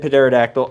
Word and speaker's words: pterodactyl: I said pterodactyl. I don't care. I know the P is silent.